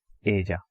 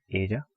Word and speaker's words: ella: she, you can write ella. In English, the English speaker, they are generally going to pronounce that as ella, but it is not that. The double L pronunciation is j, like j.